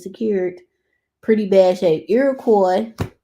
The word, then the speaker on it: Iroquois: secured pretty bad shape Iroquois is how you pronounce that street Iroquois remember Detroit is a French city y'all um is that in